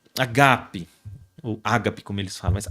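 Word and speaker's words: ἀγάπη: Ágape né primeiro que a pronúncia não é Ágape mas é agape né começa por um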